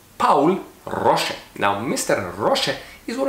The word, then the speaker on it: Paul Rosche: by a man called Paul Rosche. Now that's the American pronunciation of his name, but because he was German, we're gonna say it right. It's Paul Rosche.